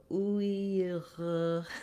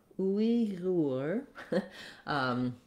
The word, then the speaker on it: Uyghur: So if you could make a g and that could you could hold it. So Uyghur. It's hard for me. It's not part of my sound system. I could work on trying to master it.